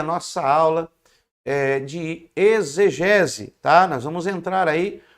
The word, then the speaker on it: exegese: Se escreve e ex com x e gese, mas você lê como se fosse um z de zabumba. Exgese, exegese.